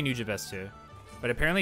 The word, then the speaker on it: Nujabes: new james today i i always pronounce it nujabes but some people say it's new james and i'm not i'm